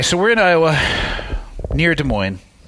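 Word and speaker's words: Des Moines: we're in Iowa near De Moine that's the right way to say it right or is it Des Moes for French yeah Des Moes Des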